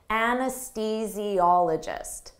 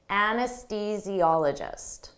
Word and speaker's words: anesthesiologist: reproductive issues an anesthesiologist don't let this spelling confuse you native speakers have difficult with the pronunciation of this anesthesiologist anesthesiologist an anesthes physiologist administers anesthesia